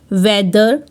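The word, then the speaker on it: weather: में आ रहा है अगर टी एच वर्ड के बीच में आ रहा है और टीटीएच के पहले भी एक वावल है और टीटीएच के बाद में भी एक वावल है तो टी एच को द रीड करेंगे फॉर एग्जांपल वेदर लेदर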